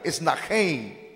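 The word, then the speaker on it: συνάγειν: Y sinagoge, hermano, dentro del verbo mismo, es la expresión que también se pronuncia así, esnajein o esnajein. Es la expresión o la pronunciación más correcta, esnajein.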